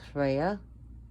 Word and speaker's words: Freya: Reya she's also pronounced Freya and some places but it was pronunciation is Hoya where the r's are rolled so just remember if